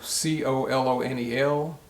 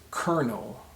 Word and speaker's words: colonel: is called a kernel so c-o-l-o-n-e-l is pronounced kernel kernel and not colonel confusing isn't it well